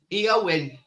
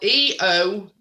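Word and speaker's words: Éowyn: Eowyn. There you go. That's his latest storm name. So there you go. It's spelled Eowyn.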